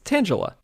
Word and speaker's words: Tangela: both sides I think tangala because it's like a tangle of vines so that makes sense